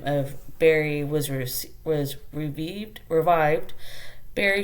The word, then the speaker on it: Barre: So it is spelled b a r r e but pronounced Barre.